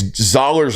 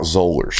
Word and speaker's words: Zoller: It's Zollers like dollars, not Zollers.